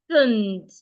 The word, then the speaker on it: accent: The second C will sound like a S. So this word is sounding like accent.